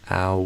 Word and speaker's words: owl: Owl, will. I feel like you're almost saying like my name, like Will, but I would do wool.